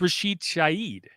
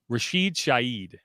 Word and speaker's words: Rashid Shaheed: Yes, I think it's Rashid Shaheed. Really? Like the H is silent.